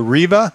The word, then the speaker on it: Rea: over here to the Rea I think it's how you say it g whiz Rea like is in Reba McIntyre RV r v a